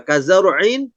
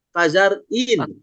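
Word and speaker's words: كزرع: Misalkan kazaru'in ini pakai ain malah dibaca pakai hamzah. Kazar'in. Ini Iya.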